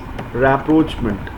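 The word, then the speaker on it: rapprochement: मिलन और री अप्रोच actually जो वर्ड मैंने प्रोनाउंस किया आप उसी की मदद से ही इस वर्ड को लर्न कर सकते हैं लिखा हुआ है अप्रोचमेंट लेकिन रि अप्रोच फिर से किसी को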